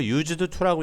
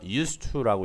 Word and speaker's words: used to: 그래서 used to 여러분 이거 used to라고 읽는 거 아니에요. used to라고 읽으셔야 돼요. used to 동사 원형하면은 뭐라는 얘기죠?